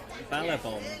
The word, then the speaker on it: Ballabon: So if you're interested in that kind of book, Home by Ballabon. That's right. That's You actually pronounced it correctly.